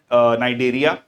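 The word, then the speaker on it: Cnidaria: Plate helminthes अ नाई नाइडेरिया सी इसमें silent होता है एनालिडा ठीक है सो आंसर है आपका पोरिफेरा ठीक है जी पोरिफेरा बेसिकली क्वेटिक एनिमल्स हैं।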